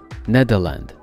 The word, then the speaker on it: Nederland: plus proche de la façon dont les néerlandais prononce le nom de leur pays eux mêmes nadeau landes neda signifiant bas et l'inde signifiant terre les